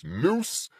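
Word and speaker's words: Nous: need to touch on the Noose which is spelled n o us not no o o e noose n o US represents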